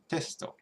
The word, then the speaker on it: テスト: So test, which syllable do you think the accent drops on, if at all? Testo. So it's testo.